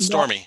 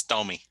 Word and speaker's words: Stomy: Mine's Not Stormy. Mine's Stomy. Mine's not Karen.